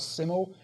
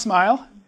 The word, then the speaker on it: SMIL: do you pronounce this I thought it's called siml but it's pronounced smile and this actually animates inside of your SVG